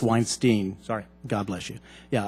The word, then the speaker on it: Weinstein: Congressman Jones, actually it's pronounced Weinstein.